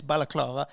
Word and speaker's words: balaclava: it's not like a good book club it's balaclava okay would you rather use two three two